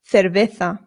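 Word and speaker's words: cerveza: Remember the C's in Spanish make a th sound, but the zeds do as well. So this is and the v's in Spanish make a very light b sound. Not cera. Your lips just touch very lightly when you make the V sound. Cervea. Cervesa. Now again, this is Spain pronunciation.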